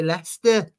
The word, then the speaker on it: Leicester: swap glasses with me you thought that that says Lester that's how you say it you gotta say Lester well can I just